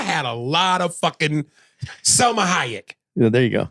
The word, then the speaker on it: Salma: So she's an obtainable Salma Hayek. You fucked that all up. You said Salma Hayek. I said it wrong. But like salmonella and kayak, nigga. Selma.